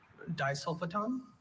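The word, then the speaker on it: disulfoton: Dulfaton. Dulfaton. Is there any pronunciations? Just the one. Dulfaton. Dulfaton. Third syllable schwah.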